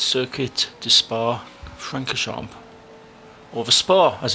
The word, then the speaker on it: Spa-Francorchamps: I actually say Circuit de Spa-Francorchamps, but it's not. It's Circuit de Spa-Francorchamps, or the Spa as it's generally known.